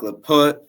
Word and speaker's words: Laput: with our guy leut did I say it right leut yeah that's right okay we're here with